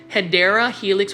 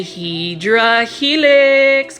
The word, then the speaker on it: Hedera helix: channel, I call my I mispronounce Hedera helix, which is the scientific name for English ivy. I say Hydra helix because for the longest time I actually struggled with mispronouncing that word.